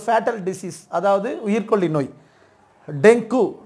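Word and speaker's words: dengue: அடுத்து பாருங்க, ஒரு ஃபேட்டல் டிசீஸ், அதாவது உயிர்கொல்லி நோய், டெங்கு. இது டெங்குவே அல்ல, டெங்கி, டெங்கி. இதுதான் கரெக்டான உச்சரிப்பு.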